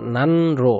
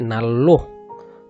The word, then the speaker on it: 난로: এটা অনেকে হয়তো উচ্চারণ করতে পারে, নান নান রো, নান রো উচ্চারণ হচ্ছে নাল্লো, নাল্লো নাল্লো, জঙ্গি নাল্লো রুল, জঙ্গি নাল্লো রুল।